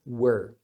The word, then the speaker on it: were: ele forma we né tem o som do W que é o som do U junto com o er Do or tá então